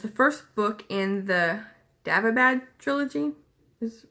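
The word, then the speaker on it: Daevabad: It's the first book in the Davabad trilogy, is how you pronounce it.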